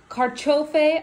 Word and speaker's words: carciofi: So we have ham, the carciofi oreganata. Go ahead, say it. Did she say it right? No? So say it. Carciofi. Oreganata. Oreganata, yeah. My pronunciation isn't that different.